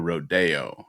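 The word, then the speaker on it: roadeo: It's spelled R O A D E Oo. Like a rodeo. Like a rodeo. Like rodeo.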